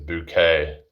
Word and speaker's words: Bucket: Higher synth bucket she was called. But if you pronounce it higher bouquet trying to sound posh or something.